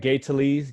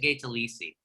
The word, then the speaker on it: Talese: Joe DiMaggio piece, like Gay Talese? Is that how you pronounce it? I always pronounce it Gay Talese. I guess it would be Talese in the old country. But Talese, exactly.